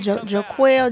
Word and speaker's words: Jonquel: He's pronounced Jaquel Jones got 13.